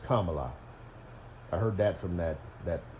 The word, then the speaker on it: Kamala: It's actually pronounced Kamala.